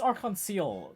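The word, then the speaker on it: Arc-en-Ciel: continent's renowned theater troupe arc on seal wait yeah yeah pretty sure it's yeah it's our conceal at least that's how they pronounce it in the Cold Steel Games isn't it if I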